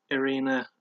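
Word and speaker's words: Irene Aldana: prelim fight which was Leslie Smith against uh arena aldana it is pronounced arena even though it's spelled arguing she's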